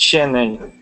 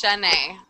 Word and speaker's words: Chenay: But it's Shanae. It's Shanae. Yep. I'm a perfect example. Yes. My name is spelled CHENAY, but it sounds like it should be SH.